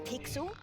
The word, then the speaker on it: Pixel: not weird guy i'm pixel it's easy to remember because it rhymes with pickles i'm foster i'll remember